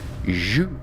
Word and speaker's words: jus: It's pronounced jus.